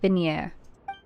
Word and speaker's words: Vigne: Okay, it's a soft G. Vigner. Cool. Like a vignette.